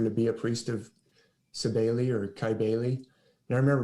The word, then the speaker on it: Cybele: That's how I've always heard it pronounced, Cybele, but it's spelled C-Y or K-Y-B-E-L-E.